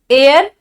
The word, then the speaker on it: heir: तो उत्तराधिकारी का सेंस चाहिए तो HEIR एयर चाहिए। AIR एयर अलग होता है, HEIR दोनों का प्रोनाउंसिएशन सेम है।